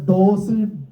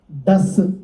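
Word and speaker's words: does: നമ്മൾ പറയുന്നത്ഡസ് ഒന്ന് പറഞ്ഞേ നമ്മൾ സാധാരണ ഡിഓ ഇഎസ് എന്ന വാക്കിന് ഡോസ് ഒക്കെ വരു അല്ലേ പക്ഷേ ഇവിടെ നമ്മൾ ഉച്ചരിക്കുമ്പോൾ ഡസ് എന്നാണ് പക്ഷേ നമ്മൾ ഡസ് എന്ന് പറയുമ്പോൾ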